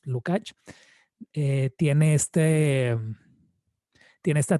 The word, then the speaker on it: Lukács: me parece que era giorgi lukach lukács no sé exactamente cuál es la pronunciación es lukach que tiene este tiene